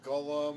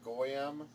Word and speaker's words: golem: the pronunciations different brothers some may call it golem others call it go a.m.